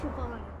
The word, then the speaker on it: Siobhan: How do you pronounce it? Siobhan.